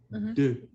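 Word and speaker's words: deux: too and we say look at my mouth it's like open your mouth slightly and you keep it open D candy good j o the T du T listen to me again du it's like you go up du du much better and du in French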